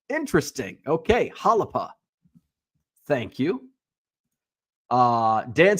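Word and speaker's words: Xalapa: Uh, Unicorn Cupcake says, "FYI, on eBay, I'm Zalapa 6." Oh, it's pronounced Halapa. It is a city in Mexico, home of the Jalapeno. Interesting. Okay. Halapa.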